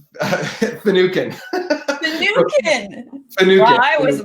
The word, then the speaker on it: Finucan: Finucan, is that how you say it correctly? Close. It's actually Finucan.